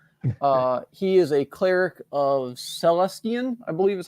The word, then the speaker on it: Celestian: He is a cleric of Celestian, I believe is how you pronounce it.